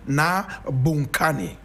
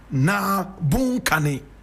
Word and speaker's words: Bounkani: A lot of you will pronounce it Naa Bounkani. Correct pronunciation, Naa Bounkani.